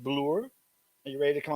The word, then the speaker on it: Reg Bloor: It's Reg, yeah. Reg. Bloor. Yeah. Not Bloor.